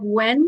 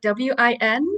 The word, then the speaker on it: Nguyen: It's such a tough last name to pronounce, but if you say like Wen, like Win, I think Oh, that's pretty good.